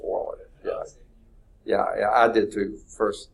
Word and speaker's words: Euler: Yeah, it's actually pronounced Euler. Yeah, I did too first, and then finally I saw a phonetic thing of it. It's like, oh, it's Euler. It's not Euler.